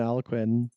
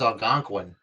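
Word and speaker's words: Algonquin: be, you know, earcoy and aloquin stuff, but it's Alangquin. It's Alangquin, but they lost. Alangquin. Yeah, Alangquin. That's how I was taught how to pronounce it.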